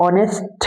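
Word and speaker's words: honest: जैसे ऑनेस्ट है। ऑनेस्ट मैन। अब इसमें एच आपका क्या है? कंसोनेंट है। लेकिन साउंड कर रहा है वोवेल।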